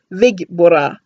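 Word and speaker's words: Ve-Geburah: Then you basically send the energy out as far as you can to the right, and it's Vigbora. The pronunciation Vigbora.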